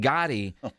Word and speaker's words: Gotti: And I can't wait to see this Gotti offense. And Gotti, by the way, is the right way to say it according to Tyler Guyton.